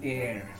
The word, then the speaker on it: heir: Again, H is silent here. An heir.